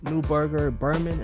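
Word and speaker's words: Neuberger Berman: you um did work at jp morgan uh newberger berman am i pronouncing that right yep that's right that's right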